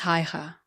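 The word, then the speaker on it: Haigha: His name is Ha. He pronounced it so as to rhyme with the mayor.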